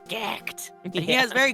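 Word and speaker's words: Gackt: Oh, but he said he thought it was so weird how Americans say his name because in Japan it's Gyakto, but over here obviously it's Gacked.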